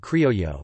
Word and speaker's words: criollo: Local food is called criollo, pronounced the same as criollo, the Spanish word for creole, and boasts a blend of flavors and techniques best compared to Caribbean cuisine and Latin American cuisine.